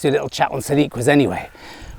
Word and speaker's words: siliqua: It's a siliqua, so silica or siliqua, I think it's siliqua, plural siliquae.